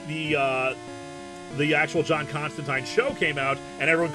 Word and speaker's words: Constantine: Constantine rhymes with wine.